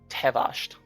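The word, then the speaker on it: Teh'Vasht: Just so I pronounce it correctly. Tevasht. Tavasht.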